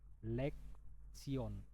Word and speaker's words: Lektion: Lek sion.